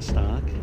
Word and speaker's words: Stock: not sure why cuz it rhymes with shock and the shock entertainment I don't know but it's real name stock did you ever think